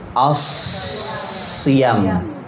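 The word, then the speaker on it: الصيام: Tapi kata as-siyam di huruf iya-nya, huruf ya, itu panjang atau tidak? Panjang. Panjang atau tidak?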